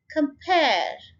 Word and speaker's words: compare: Compare, so ये देखें come को हमने बहुत आराम से कह दिया और स्ट्रेस हम किसको करेंगे, इस syllable को, सेकेंड वन को. Pair, compare, ये देखें compare, compare.